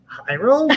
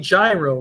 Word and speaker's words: Jairo: Jairo? Because of the pronunciation. You mean gyro, right? Oh, Jairo, like Jairo Romo.